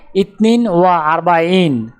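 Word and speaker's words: اثنان وأربعون: আরবি ক্রমিক সংখ্যা 42 দেখতে এরকম, উচ্চারণ হবে ইতনিন ওয়া আরবাইন।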